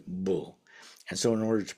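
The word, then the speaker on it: 불: In sino Korean this would never be done. Um the single car the same single character would always be pronounced as just bull.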